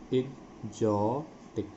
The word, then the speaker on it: exotic: Exotic, exotic इसका उच्चारण समझ लेंगे, इग, इग, इग, इग्जॉ। तो इस शब्द, इस लेटर के एक्स के दो उच्चारण यहाँ पर होंगे, ग एंड ज। एग्जॉटिक, एग्जॉटिक, एग्जॉटिक का मतलब होता है आनंदमय, आनंद का।